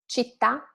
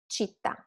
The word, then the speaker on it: città: Città, with the accent, città, without the accent.